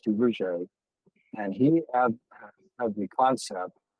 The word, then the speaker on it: Duverger: It's spelled Duverger, but it's pronounced Duverger.